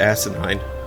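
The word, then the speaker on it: Asanine: It's ASA instead of ASI. But I would still pronounce that Asinine.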